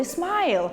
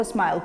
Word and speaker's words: smile: вимовляється наприклад у слові smileл пам'ятаєте я казала I Smiling і пишеться Це ось так хоча саме слово Smile пишеться Ось так у слові Smile остання літера і не вимовляється вона є Silent E і коли ми додаємо